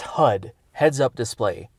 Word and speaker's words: HUD: It's pronounced HUD. Heads up display, not hood.